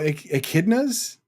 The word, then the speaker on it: echidnas: how to pronounce it. Oh, echidnas.